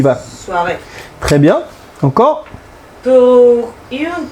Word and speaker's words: soirée: La E se pronuncia porque lleva tilde, ¿vale? Vas-y, on y va. Soirée.